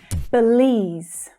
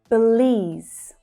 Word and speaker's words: Belize: Belize, Belize. So hear how that stressed vowel sound is a long vowel sound in the second syllable. Belize, Belize. And we're finishing with that Z consonant sound. Belize.